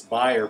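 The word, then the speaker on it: Bayer: during his administration and in German is pronounced buyer by the way kind of like the racetracks if you see the buyer number he's German um but it's buyer pronounced bear in American but they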